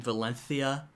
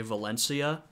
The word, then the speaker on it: Valencia: you also get that the spanish pronunciation valencia with sort of the lisp um you know in most of latin america they don't pronounce it like that that's a uniquely spanish pronunciation um you know in the americas you just say valencia um so yeah that's